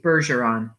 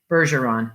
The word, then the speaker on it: Bergeron: in the story so am i going with bergeron harji or sofci bergeron bergeron bergeron bergeron let's try soft g bergeron let's see if i can get through the story with that harrison bergeron the year was 2081